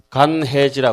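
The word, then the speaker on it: 乾慧地: 빼짝 말은 지혜 간해지라 그러죠. 절에서이 말을 건자는데 절에서는 그 건이라고 읽지 않고 간이라고 읽죠.이 간의지를 통과하고 나면은 비로소신 위에 들어갑니다.이 십신을 통과해서 그다음에 뭐죠?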